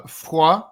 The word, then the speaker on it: Foix: Um question for you John from uh Fua 6624. I'm going to use the French pronunciation.